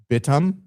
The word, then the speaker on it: Bithumb: And of course, I say Bithumb. I've heard Koreans pronounce it Bithumb.